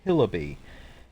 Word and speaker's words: Hillibee: it reads welcome to Hillary Creek pronounced hillabee is a world in